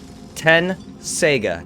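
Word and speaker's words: Tenseiga: tet t-e-t saiga so shomero's blade is 10 sega 10 is the number and sega as in you know sega genesis yeah so 10 sega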